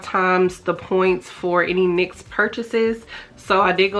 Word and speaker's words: NYX: you guys I am going back and forth between saying NYX and Nyx but they actually did come out on their Instagram and say that it's pronounced NYX I've been saying NYX this whole time because I'm like what is the Nyx I don't know but it is actually NYX which is really surprising but this was like